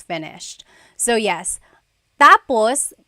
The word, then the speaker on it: tapos: endos that means finished when the emphasis is on the first syllable tapos then it means next interesting there very interesting